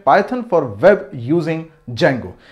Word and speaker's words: Django: नाम होता है Django, जिसकी स्पेलिंग डी से स्टार्ट होती है लेकिन हम इसको प्रोनाउंस करते हैं Django।